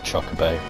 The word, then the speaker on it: chocobo: I'm sorry, look, I pronounce it chocobo.